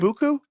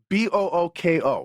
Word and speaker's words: Booko: Is it Buku? Buou. Come on, bro. I don't know. Let's go. It's spelled B O O K O. You're right. Say book. Book O.